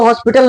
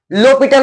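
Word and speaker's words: L'Hôpital: हॉस्पिटल य लिखा हु लेकिन इसको हॉस्पिटल नहीं पढ़ते हैं लो पिटल पढ़ते हैं ये जो एच है और एस है ये साइलेंट रहता है तो एल ओ पी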